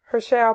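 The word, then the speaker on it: Hershel: page and you have Parker her shell well her shell Parker is how you pronounce it in a biography volume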